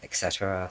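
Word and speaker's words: へ: This is spelled with a he, but it's just like e, just like the letter e is how you say it as a particle.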